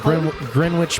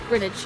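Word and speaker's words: Greenwich: No. Yeah, it's Grinidge. Grinidge meantime. It's Grin. Well, we sort of pronounce it Grinage or Grinidge. Yeah, like spinach. Spinach.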